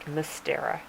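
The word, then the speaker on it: Мстёра: not english letters obviously but that's how it's pronounced mystera and that's about all i learned but it's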